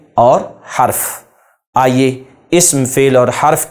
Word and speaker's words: حرف: پر بھی غور کریں، میں نے اسم نہیں پڑھا، اسم سین ساکن ہے، فعل عین ساکن ہے، حرف نہیں، را پر زبر نہیں ہے بلکہ را ساکن ہے۔ حرف، تلفظ کا درست